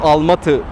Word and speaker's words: Almaty: Almaty nasıl telaffuz edilir? Sovyet döneminde buraya Alma-Ata derlerdi. Şimdi Almaty diye okunuyor, sonuna 'y' eklenerek . Almatı demeliyiz. Doğru yöntem budur.